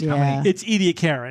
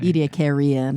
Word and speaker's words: Ediacaran: Oh gosh, but it's Ediacaran. Ediacaran. Just to be clear. Yeah, Ediacaran. What did we say? Ediacaran. Ediacarian. We added an I after that.